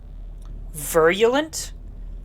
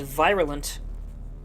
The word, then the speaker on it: virulent: Virulent. I always pronounced it as viralent.